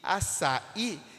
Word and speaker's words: açaí: Café está em fé, parabéns está em bens, e açaí está no i, na última sílaba.